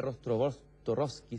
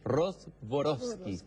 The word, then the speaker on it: Rostworowski: en esta conversación María rostowski siempr se me equivoca su apellido voy a pronunciarlo de nu Ros borovsky un apellido polaco ella es ETN historiadora